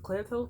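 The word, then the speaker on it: Claire Tow: About 2 weeks ago, we went to Lincoln Center's Clear Toe Theater. I think, right? So it's called Clear toe. That's what I said. Toe. Clear Toe Theater. Rhymes with low.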